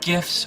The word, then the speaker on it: GIF: Those little animated pictures on the internet, are they called GIFs or GIFs? Well, the G stands for graphics. That's a hard G, so I say GIF.